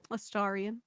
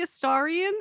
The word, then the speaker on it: Astarion: I don't know how to pronounce his name, but the vampire from Baldur's Gate. Astarion.